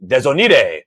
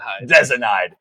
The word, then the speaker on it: Desinide: I thought his gamer tag was Desonide. Desonide? So my first time casting, I pronounced it with a Spanish accent. I go, oh, and Desonide with the big flame. I mean, He digs me after. He goes, hey, it's pronounced like that in Spanish. I'm like, Desinide. Get it right, bro.